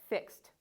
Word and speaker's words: fixed: And this one, fixed. So for all of these words, because they end with a voiceless consonant, all the final EDs are going to be pronounced like T.